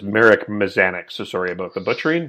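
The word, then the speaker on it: Mazanec: also by the way the pronunciation of his name is marek mazanik so sorry about the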